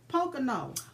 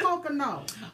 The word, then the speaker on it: Pocono: now you told me how to say it Pocono Pocono why do I want to say something else I don't know why you want to say something else but it's Pocono don't forget about July 30th the Pocono Race is going to be happening in Pennsylvania